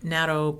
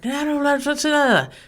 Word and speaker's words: natto: But we do have another natto product called nattokinase, or nattokinase, depends on how you want to say that.